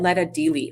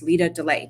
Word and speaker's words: Lita Delay: how it's phonetically spelled like mine looks like letter i get letter all the time in fact i get letter dealy all the time and it's lita delay but anyway um i